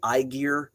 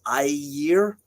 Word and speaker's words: Ymir: A lot of people say Ygir, but remember that G is a soft GY sound, so it's Ymir.